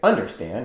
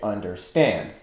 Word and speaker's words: understand: Like the word understand, understand. We don't say understand, we say understand, with the accent on the final syllable.